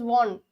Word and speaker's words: van: Anton Van කියලා තිබුණාට sometimes it is pronounced as von, right?